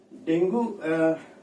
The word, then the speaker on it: dengue: अच्छा, डेंगू हम लोग जनरली इसको डेंगू बोल देते हैं, बट एक्चुअली में इसका डेंगी नाम है। मतलब हमारी बोलचाल की भाषा में हम इसको डेंगू बोल देते हैं, बट असली प्रोनाउंसिएशन इसका डेंगी होना चाहिए।